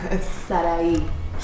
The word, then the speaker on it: Sarai: Sarai. The same syllables as Sarah Lee.